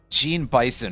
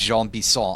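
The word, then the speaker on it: Jean Bison: Alright, now we gotta go find Gene Bison over here in his house. And by that I mean his name is actually pronounced Jean Bisson.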